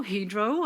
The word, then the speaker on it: Hydro: frederickstar chief engineer in hydro hedro as i've been told to to pronounce it are embarking on a